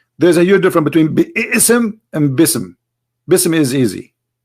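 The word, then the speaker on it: بسم: say you see here you didn't say be ISM no more here they say BISM so it's not an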